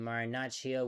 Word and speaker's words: Marinaccio: And Marinaccio will be warming up in the Pirates bullpen.